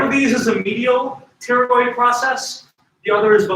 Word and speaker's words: pterygoid: One of these is a medial pterygoid process. The other is the lateral pterygoid process. The PT, you only pronounce the T. Pterodactyl, Ptolemy, pterygoid process. a medial and a lateral.